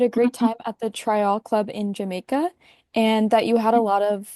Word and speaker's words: Tryall: Thank you for asking me about Tryall, and I I just want to say that I love that you pronounced it Tryall, because that's how the Jamaicans pronounce it.